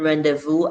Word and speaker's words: rendezvous: way z all right so we don't pronounce the z in rendezvous and then laser fair